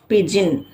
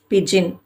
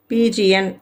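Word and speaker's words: pigeon: அதுல first one என்னன்னு பாத்தீங்கன்னா பிஜின் பிஐ இஜி இஓ இது பிஜின் இதை வந்து சிலரு பிஜி என் அப்படின்னு படிப்பாங்க பட் அது ராங் பிஜின் அடுத்தது பாத்தீங்கன்னா இது காமனாவே எல்லாரும் செய்யக்கூடிய மிஸ்டேக்கா இருக்கு.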